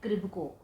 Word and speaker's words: KRIBHCO: है वो नहीं है, इसकी सही स्पेलिंग है KRIBHCO, इसे बोलते हैं क्रिब्को।